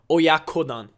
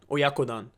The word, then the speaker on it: oyakodon: dish it's called oyakodon I'm saying it wrong oyakodon oyakodon so it's O Oya means like adult so